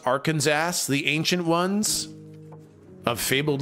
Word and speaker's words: Arkansas: wow Arkansas rice Arkansas West Virginia Ark and saw now you guys would spell it differently I'm sure it's actually pronounced Arkansas the ancient ones of fabled Legends pronounced at